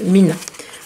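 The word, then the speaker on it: 3INA: Donc en fait, ça s'écrit, si vous cherchez sur internet, n'écrivez pas Mina, vous ne trouverez rien. Écrivez 3, donc le chiffre 3, Ina. Et ça se prononce Mina.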